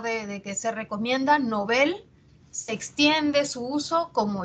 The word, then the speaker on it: Nobel: su lengua origen ahora es palabra aguda en sueco sea se pronuncia novel y así se recomienda